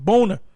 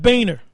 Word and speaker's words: Boehner: Actually, it's a German word, and it's pronounced Boner, not Boehner.